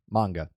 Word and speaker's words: manga: Manga. Right? It's pronounced manga.